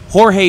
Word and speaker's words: Jorge: cat the tech specialist Jorge or or George as he's referred to into the game but it spelled like Jorge uh the machine gunner